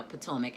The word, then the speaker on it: Potomac: gave me the phonetics lesson about how to pronounce potomac so now i got it now potomac and what a beautiful city it is i'm